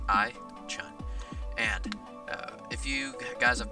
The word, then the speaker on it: iChun: And it's spelled exactly how it sounds, iChun.